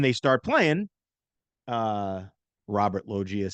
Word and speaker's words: Loggia: Loggia, Robert Loggia.